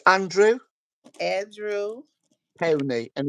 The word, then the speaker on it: Powney: Powney, and it's Uh-huh.